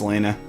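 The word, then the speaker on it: Lana: right ah yeah she does look strikingly like Mia we're not having you mispronounce another important female characters name it's lon I'll that it's Lena no way let's check on the port guard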